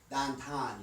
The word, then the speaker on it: downtown: I've never actually lived downtown. Or I should say dahntahn. You got to say it right. Dahntahn. Dahntahn. Um when the the students